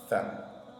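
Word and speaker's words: ث: Ça, c'est une lettre qui se prononce comme S. Mais par contre, avec la langue entre les dents. Tha. Tha. Tha. Comme lorsqu'on dit that en anglais. That. T-H. That. That is good.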